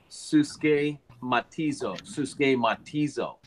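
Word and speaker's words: συσχηματίζω: It's pronounced suske matizo.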